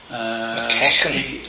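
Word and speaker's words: McEachern: McKechen? That's how that is correct pronunciation of it, apparently.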